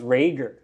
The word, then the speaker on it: Rager: It's pronounced Rager.